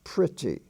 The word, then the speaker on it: pretty: it's not busy it's busy and p-r-e-t-t-y is pronounced pretty as if it were a short eye pretty